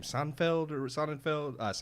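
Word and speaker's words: Sonnenfeld: his name Seinfeld or sonenfeld uh not Seinfeld not Seinfeld it's like Sonic it's like simonfeld he not only nailed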